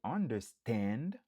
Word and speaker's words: understand: Il y a 3 syllabes. N'a accentué sous dernier syllabe là. Stand. Understand. Par exemple, I understand the lesson.